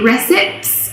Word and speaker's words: recipe: very irregular this word normally when an e is on the end we don't pronounce it but in this case we do recipe three syllables okay